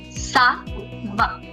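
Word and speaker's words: ça va: I want the pronunciation. Sa-va.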